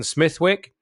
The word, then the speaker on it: Smithwick: The only place in the world where Smithwick is not pronounced Smithwick is in Ireland, where it came from, and there it's pronounced Smithwick, like Smithwick ale.